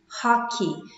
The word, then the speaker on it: hockey: Pay attention to the pronunciation. Tem muita gente que acaba pronunciando errado, right? This is not hockey. É a mesma pronúncia do que money, money, e monkey, macaco, monkey. Always in English, quando a gente termina com E-Y, o som é de um I longo.